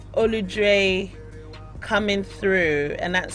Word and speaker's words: Oludre: If you want to check it out, it's Oludre Coming Through, and that's spelled OLUDRE, Olu and Dre.